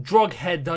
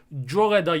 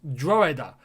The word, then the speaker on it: Drogheda: on that it's not drug header united they don't pronounce the g i think it's dragada united or droida so yeah apologies to